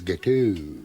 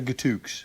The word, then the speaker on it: gâteau: idiot or anything, but I think you'll find it's gâteau. Gâteau? Yeah. Oh, I see, Yeah, right. the X is silent. I thought with your French-Canadian connection you would have known that. Gâteau. Yeah, It's what the fuck, gâteau bro? as opposed to gatooks.